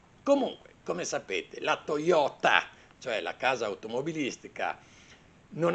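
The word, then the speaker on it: Toyoda: la casa automobilistica giapponese si chiamava Toyota con la d di Domodossola e non Toyota Con la T di Torino Comunque come sapete la Toyota cioè la casa automobilistica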